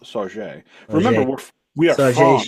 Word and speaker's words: Sauget: Sauget is actually pronounced Sauget.